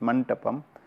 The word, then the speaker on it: mantapam: porches are the mantapa basically it is a mandapam this pronounced is mantapam which always cover and